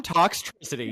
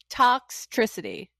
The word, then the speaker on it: Toxtricity: You know how to say electricity, right? Yes, electricity. Okay, so instead of saying electricity, say toxtricity. Toxtricity.